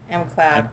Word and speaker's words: McLeod: Ah, M Cloud. Oh, M Okay. Cloud. M Cloud. Oh, not Mick.